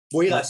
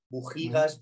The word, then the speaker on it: Buhigas: Buigas, sí, es muy frecuente que se pronuncie mal. Bujigas, Boigas, Bujaigas, pues en fin, perfecto, Buigas, con las intercaladas, sí.